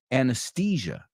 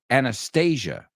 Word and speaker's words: Anastasia: Just be careful you don't pronounce it anesthesia. So, the Russian one, quédate. Anastasia.